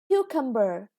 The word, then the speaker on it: cucumber: is stressed okay and this is cucumber again the first syllable is chest and the last one